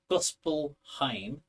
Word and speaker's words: Gospelheim: Gospelheim or Helm?